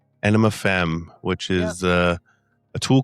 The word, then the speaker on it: Aenima Femme: Britney is the lead singer of how do you pronounce it? Ana enema fem enema fem which is uh a tool cover band based right here in Viva Las Vegas.